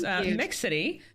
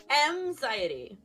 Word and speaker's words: Mxiety: Of course, Mix City. Am I saying that right? No, but that's okay. Nobody does. Tell me how to say it. Tell me how to say it. Anxiety.